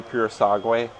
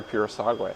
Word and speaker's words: Purosangue: That's how, with the Ferrari Purosangue. Yeah. I think that's how you pronounce it the correct way too.